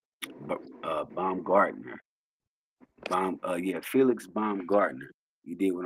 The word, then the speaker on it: Baumgartner: Baumgartner. Let me get this man's name right. You did what I'm saying. Some of y'all might have heard about him. You did what I'm saying. But Baumgartner.